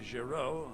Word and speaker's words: Giraud: I had no idea you pronounced his name Giraud. I think I just mind blanked every time he said that. That's how you pronounce his name.